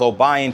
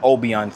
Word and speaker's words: Obion: And also I also want to apologize for everybody to everybody especially the locals um I mispronounced it's uh Obion County. So, it's Obion County, not Obian County.